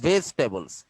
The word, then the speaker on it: vegetables: ভেজিটেবল না, কথাটা ভেজিটেবলস। ভেজিটেবলস না, ভেজি কোনো কথা হয় না, ভেজি হয় না, জি এর পরে উচ্চারণ ইয়ার মতো হবে না, ইয়ার উচ্চারণ হবে না।